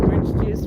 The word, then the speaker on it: Orange Juice: So her name, orange juice, rhymes with pamplemousse.